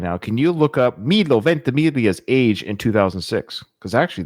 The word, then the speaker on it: Milo Ventimiglia: I'm so proud I know how to pronounce his name. Milo Ventimiglia.